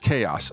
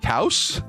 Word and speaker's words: Chaos: It's pronounced chaos. Okay, that makes more sense. What up, chaos? I was like, cows?